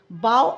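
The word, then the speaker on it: bough: राइ्स of with puff बाऊ and plug rhyme with काऊ ठीक है अब आइए लेट अस राइट पर आप आ जाइए।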